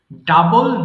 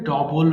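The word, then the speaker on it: double: করা discover ডিসকভারড ডিসকভারড ডাবল দ্বিগুণ করা এটা অনেকে ভুল করে ডবল বলে যে আমার ফোন নাম্বারটা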